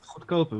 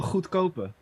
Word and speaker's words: goedkope: it says goedkope, which means cheap. Learning Yeah. Dutch with Jean-Paul. What is it? Grobben. What? How did you say? How do you pronounce that? Oh, goedkope.